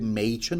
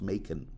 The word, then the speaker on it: Machen: Do you know I've been pronouncing it Machen all this time, and then Wikipedia corrected me. No, it's pronounced Machen.